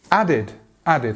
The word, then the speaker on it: added: So adapted, adapted. Again, we have the T and we have the id sound at the end. Added. Added. I added something to something else. Again, the end is a D and there, id.